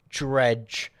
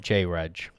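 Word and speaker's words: Jreg: ] you oh sorry it's pronounced as one word dredge not j reg i was thinking about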